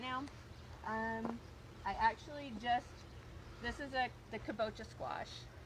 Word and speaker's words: kabocha: I believe a kabocha is how you say it.